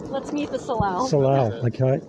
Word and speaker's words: salal: Salal. Okay. It's spelled S-A-L-A-L.